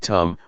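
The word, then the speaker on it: ธรรม: we see this now the damama in Tai pronounced in the same way as the word tum which means to do refers to Nature that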